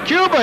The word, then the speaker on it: Cuba: And it's not Cuba, it's Cuba, he said. Cuba, just like it's spelled.